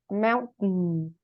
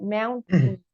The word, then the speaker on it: mountain: Mountain. The T and the N are together. Mountain.